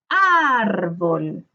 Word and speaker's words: árbol: Separamos por sílaba árbol, luego descubrimos la sílaba tónica. Árbol, árbol, ar, ¿cierto? Ok, descubrí que es grave. Pero ¿le vamos a colocar el tilde o no? En este caso, sí le colocamos el tilde. ¿Por qué? Porque termina en L.